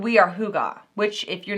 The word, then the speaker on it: hygge: She said, we are hoo-gah, which if you're not familiar with that, this is what it looks like when you spell it out.